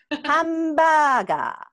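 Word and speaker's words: ハンバーガー: Hamburger. Hamburger. Right. Hamburger. Hamburger. It's just a little bit open sound, you know. Uh-huh. Hamburger. Since we have only five vowel sound, so uh-huh. It just becomes hamburger.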